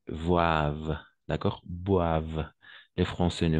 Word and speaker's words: boivent: comme je vous disais on le prononce jamais ent à la fin donc on va dire mange et boivent d'accord boivent les Français